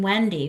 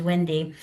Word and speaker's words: Windy: Sometimes people in the northeast ask me if I mean Wendy when I say my name is Wendy and I say no I I am pronouncing my own name correctly friend.